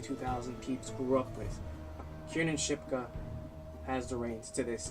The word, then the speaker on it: Kiernan Shipka: Kiernan Shipka?